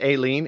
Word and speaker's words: Ailin: So my last name is Ailin. It doesn't sound anything like it's spelled, so the fact that you didn't try is probably better. Oh, okay. What is it, like Celtic or something? Yeah, it's a Gaelic name.